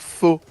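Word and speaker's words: phở: Comment ça se prononce? Faux, ouais, avec un, PHO, ouais, là.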